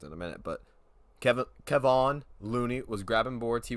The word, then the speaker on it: Kevon: i was right about kevin looney kevon looney my fault i was told that i said it wrong in the last video kevon looney he did